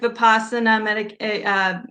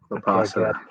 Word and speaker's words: Vipassana: I would say Vipassana, Vipassana yoga, and try to find a yoga studio or a yoga teacher that you like.